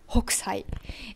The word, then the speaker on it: Hokusai: On prononce H. Hokusai.